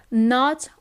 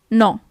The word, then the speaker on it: no: No is no. Okay, so you actually write it as in English, but the pronunciation is a little bit different. It's not no, but it's no.